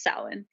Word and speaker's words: Samhain: And that's not really why, but in the old Gaelic language, it was pronounced Samhain, and Well, Rissa, I hate to interrupt mhm.